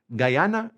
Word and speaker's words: Guyana: So French Guyana is going to be called Guyana Francesa. Okay, now I do want to say this is spelled G-U-Y-A-N-A. You are going to see a few people that spell it G-U-A-Y-A-N-A. Guyana. Guyana. Okay?